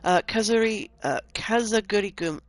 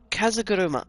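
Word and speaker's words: 風車: Now, a pinwheel is I've got to pronounce this. Okay, Kazagurigum. Bollocks. I can't pronounce with a cold. Okay, try again. Kazaguruma.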